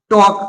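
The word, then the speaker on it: talk: सब सही पढ़ता है टॉक टॉक मीस क्या होता बातें करना यहां पर एल इसलिए साइलेंट है क्योंकि एल के बाद क्या आ रहा के आ रहा इसे क्या पढता है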